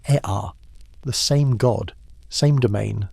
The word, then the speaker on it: Ea: In Akkadian, the Semitic language that eventually dominated Mesopotamia, Enki became Ea, pronounced Ea, the same god, same domain, same personality, but wearing a new linguistic coat.